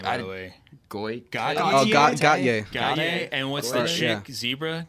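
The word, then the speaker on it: Gotye: So how do you pronounce that guy's name, by the way? Goy. Gauthier.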